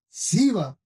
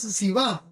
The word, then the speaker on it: Sibá: Había un siervo de la casa de Saúl que se llamaba Siba. Sí. Decile a que está a tu lado, "Acordate de este nombre." En realidad es Sibá porque tiene un acento en la no.